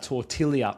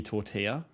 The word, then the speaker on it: tortilla: Where it's meant to be tortilla.